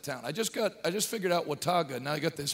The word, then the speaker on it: Watauga: Under the tent in, how do you pronounce that town? I just figured out Watauga.